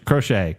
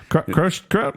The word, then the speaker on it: Croce: he up against versus how do you say his name crochet Jim Croce crochet Bad Bad Leroy Brown